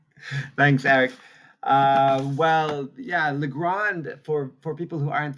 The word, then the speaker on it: Legrand: on just adjust the the French way that it should be pronounced uh Legrand is the global specialist